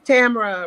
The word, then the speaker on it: Tamara: It's Tamara, rhymes with camera.